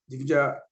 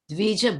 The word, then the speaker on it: Dvija: Mahabharata is also a division of Vedas, but it is meant for women, Sudras, and Divija Bandhus. Divija? How you pronounce it? Dvija Bandhu.